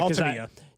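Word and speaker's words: Altavilla: And I heard him pronounce his name yesterday in the clubhouse. So you're good. Okay, yeah. Altavia.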